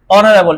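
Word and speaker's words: honorable: নাই বিধ এখানে কি বসবে বলেন অনেস্ট ম্যান উচ্চারণ কি হছে পারসন এখানে বলতে পারি অনারেবল এইচ আছে এখন কি অনারেবল না অনারেবল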